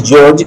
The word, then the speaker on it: Georg: simon oh george simon although it is g e o r g not e it is still pronounced as george simon oh found out